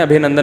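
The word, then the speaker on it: ابھینندن: کسی نے بتایا ابھی نندن ہے, ابھی نندن نہیں ہے, صحیح تلفظ کیا ہے بھائی, ابھی نندن.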